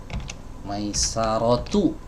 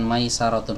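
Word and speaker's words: ميسرة: Maisarotu ya, bukan Maisarotun.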